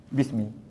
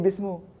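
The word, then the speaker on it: بسم: B memberi nama bismillah Ismu sudah jadi Ismi dan ejaan dia pun jadi macam ni Bismi Bismi tak boleh kata lagi bismu Sebab Dia sudah ada huruf jarapan jadi bismillah ini tetap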